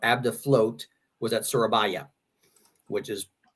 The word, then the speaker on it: Surabaya: of it looks cool uh but it is pronounced surabaya the harbor there is called parac and this